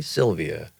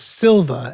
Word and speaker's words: Silva: Similarly, I was like, Pepe Sylvia. right. The guys were saying that it was Silva, and I was mispronouncing it. Silva. Silva, and I kept saying Sylvia.